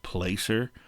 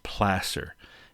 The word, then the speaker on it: placer: gold rush era was placer mining now that looks like it should be pronounced placer but it's placer it comes from the same root word as the spanish word plaza which basically essentially means